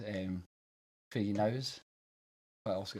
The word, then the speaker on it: Knowes: come to terms that i've mispronounced it my entire life because the entire rest of the world pronounces it knows and i even catch